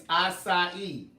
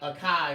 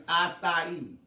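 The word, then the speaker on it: açaí: It's acai. It's not acai or whatever it was you said. It's acai.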